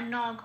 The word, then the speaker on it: নঘ: আর নঘ এটাও পূর্ণরূপে উচ্চারিত হলো, কোনো হসন্ত নেই, নখ বলতে পারবো না, ন ঘ এটাই বলতে হবে।